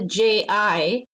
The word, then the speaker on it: ji: their name you add the ji which is pronounced like the letter G so you just always